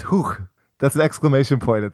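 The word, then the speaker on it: Huch!: You said the game was by, I think you said Hookchi. It's Hook.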